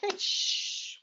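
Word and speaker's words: ghoti: So if I give you those words, how do you pronounce G-H-O-T-I? Yes, Georgina, fish, well done. So we've got the enough, the GH is a f sound. The O is a wi, women. And motion is a sh sound.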